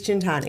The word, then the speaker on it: Centanni: It's always Centanni. Oh, wow. So Pronounces it for him, too.